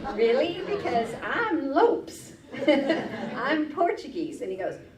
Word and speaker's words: Lopes: But yeah, Lopes is the pronunciation for the Portuguese.